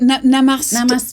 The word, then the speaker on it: Namaste: How do we pronounce it? Namaste.